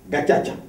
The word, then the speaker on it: Gacaca: Ils ont créé ce qui s'appelait les tribunaux Gacaca. G-A-C-A-C-A, mais il faut prononcer Ankiri Rwanda Gacaca.